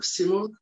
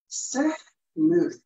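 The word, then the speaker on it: سیمرغ: Persian language, it's sehmur. Seh means 30. Mur means bird. 30 bird. Simur. But in languages of Persian, they pronounce this sehmur. In Turkish, we say simur. In Caucasian tribes, they say simur.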